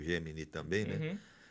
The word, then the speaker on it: Gemini: uso um pouco o Gemini também, né? Uhum. Que a turma chama de Geminai, né? É, pronúncia mais estrangeira aí eh em inglês.